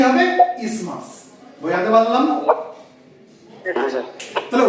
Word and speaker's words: isthmus: এটাকে বলা হয় ইসমাস। এটার স্পেলিংটা হচ্ছে ISTHMUS, কিন্তু আমরা এটাকে ইসথমাস বলবো না, প্রপার প্রনাউন্সিয়েশন হচ্ছে ইসমাস। ঠিক আছে, ISTHMUS, উচ্চারণটা কি হবে? ইসমাস।